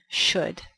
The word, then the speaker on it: should: La pronunciación es como S-H-U-D, should.